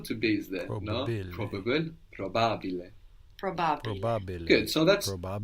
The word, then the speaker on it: probabile: Probabile. Think of how it's written, how it's spelled. Probabile. P-R-O, no, B-A, Probabile. It's almost like there's an extra B.